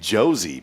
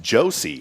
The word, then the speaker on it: Josie: So when I say your name, I've been saying Josie, but it's Josie.